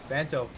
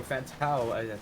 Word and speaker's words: Fantao: Fanto getting it through a Fantao. I think that's how I should be pronouncing it.